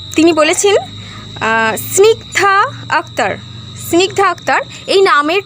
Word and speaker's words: স্নিগ্ধা: তো আজকে চলে আসি স্নিগধা। সনিগধা তিনি জানতে চেয়েছিলেন উচ্চারণটা কিভাবে হবে।